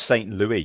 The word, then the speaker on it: Saint Louis: it's pronounced Saint Louis because that's Is it St.